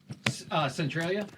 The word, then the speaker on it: Centralia: Centralia?